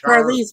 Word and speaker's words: Charlize: Why do you only call her Charlize Theron? Is Charlize because that is how it's pronounced. Charlize. It's not. I said Charlize. I said that. Yeah, well, it sounds like you're saying it like a hard CA.